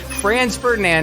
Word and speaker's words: Franz Ferdinand: i know okay france ferdinand it sounds like the word france but that's not where